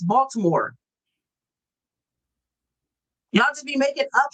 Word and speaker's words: Baltimore: Y'all didn't have a D in Baltimore. There's no D in Baltimore. That is a T. And that T sound don't make the D sound. It's Baltimore.